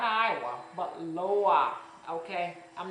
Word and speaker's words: loa: I'm used to it being pronounced Loa, L-O-A. I mean, well, the reading L-O-A, but it looked exactly like an I, a W, and an A.